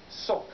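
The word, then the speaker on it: сок: Now, the word I think they're going for is pronounced in Russian, sok, but it's spelled like this.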